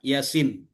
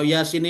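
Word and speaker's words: يس: panjang, yang mana yang kalau Yasin ini yang panjang yang mananya, ya-nya atau sinnya? Atau dua-duanya sama panjang ya Bapak Ibu ya? Sinnya. Yang baca Yasin atau terbalik. Yasin sama-sama panjang.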